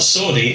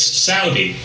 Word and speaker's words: Saudi: have said to me you know you're you're pronouncing that wrong it's not Saudi it's Saudi well okay fair enough I'm happy to pronounce it Saudi I'd be even happier if the country was